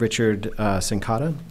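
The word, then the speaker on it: Richard Cincotta: Next, we have Richard Sincotta. I pronounced that right, right?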